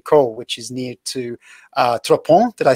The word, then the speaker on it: Trois-Ponts: this location in Caux, which is near to Trois-Ponts?